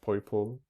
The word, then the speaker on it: Poipole: Yeah, it's pronounced Poipole, like how a child pronounces purple.